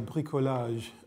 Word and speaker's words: bricolage: my word is bricolage and it's spelled b r i c o l a